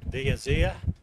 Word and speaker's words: d'Azur: Last race tomorrow in the Chasing the Azir, that's how you say it.